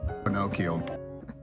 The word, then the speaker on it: Pinocchio: Pinocchio, Pinocchio. Thank you, Anesthetic Haze, for correcting my pronunciation.